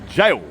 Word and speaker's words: Gaol: And this particular jailhouse is so old, they even spelled the old way, G-A-O-L, jail. That's how you say it, eh?